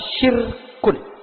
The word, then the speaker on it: syirkun: kita mengenal istilah syirkun. Bukan sirkus, syirkun. Syirkun pakai sin besar, syirkun. Ketika diucapkannya dengan wakaf menjadi syirik.